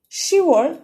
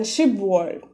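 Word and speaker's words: 시월: So that's why when it comes to 10 and 월 together, it is pronounced as and written as shivol rather than shibwol.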